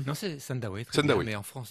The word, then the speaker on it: Sandawe: VO ah oui je prononce je pas bien prononcé C non c'est Sandawe très bien mais en France il dit sandav il se pose toujours la question il alleent